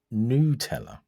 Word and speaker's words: Nutella: I found out yesterday that Nutella is actually pronounced Nutella.